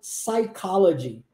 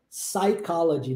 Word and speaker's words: psychology: o p lá mas o p mudo de verdade a gente não pronuncia ele quando é mudo é mudo mesmo então a gente fala psychology psychology não fala o p